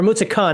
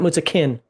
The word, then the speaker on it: Mutzachan: It's Mutzakin, or Mutzachon, not Mutzakin. It's a CHA, not a CHI.